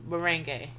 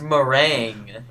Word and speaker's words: meringue: Merang. Moring. You got both of them wrong. The It's pronounced meringue.